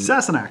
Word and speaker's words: Sassenach: So 5 minutes browsing YouTube to find the right pronunciation. Sassenach.